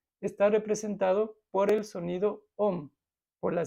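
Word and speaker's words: ॐ: recordamos que esta vibración este om es una abreviación porque el sánscrito tiene unas reglas de pronunciación pero en realidad son tres letras no son dos letras es la a la u y la m estas tres letras estas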